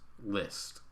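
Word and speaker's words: Liszt: list by the way l-i-s-z-t is the spelling of a composer whose name is pronounced list number three list list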